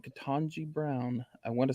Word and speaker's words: Ketanji: Ketanji Brown was first female African American associate justice appointed.